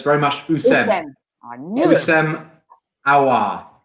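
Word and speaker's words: Houssem: Just first, Sophie, I know you're confident with the Hussein, but you mustn't pronounce the H. So it's very much Hussein.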